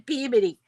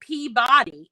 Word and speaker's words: Peabody: in Peabody, except in Peabody. And so anyway, I was talking to this woman, and she goes, "Oh, you're saying Peabody," and I'm like, "No, I'm saying Peabody because that's how we pronounce it."